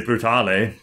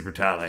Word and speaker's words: Brutale: Pronounce the E, they say Brutale, but it's a weird don't they? Word. Italians would say Brutale, but... Yeah. I just figure, like, Royale. Yeah. Well, I guess it would be Brutale.